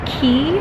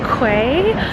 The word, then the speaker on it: Quay: I picked up a pair of, I always want to say Key, but I think it's pronounced Quay sunglasses.